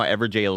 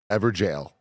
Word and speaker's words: Evergaol: Do you know how Everjail is spelled? Everjail. I'm going to say EVERJAIL. Good guess. EVERGAOL. Okay. It's an old, like, sort of way to spell.